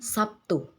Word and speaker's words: Sabtu: Dalam bahasa Indonesia lazim diucapkan Sabtu. Terdengar bunyi B berubah menjadi bunyi P sebagai akibat dari pengaruh bunyi T.